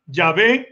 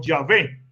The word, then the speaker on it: Yahvé: dos vocales intermedias y se pronunciaba el nombre como yahvé como yahvé por el año 1000